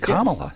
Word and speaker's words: Kamala: Wisconsin's Morning News morning Jim morning vce hey pronounced her name right he said Kamala interesting the Wisconsin delegation way up in the